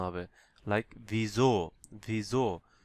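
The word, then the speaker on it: wieso: What মানে হচ্ছে ভাস, what মানে হচ্ছে ভাস। How come, ভিজো। এখানে দেখেন ভিজো, ভিজো। দেখেন আমি এখানে কিন্তু ভিসো বলি নাই।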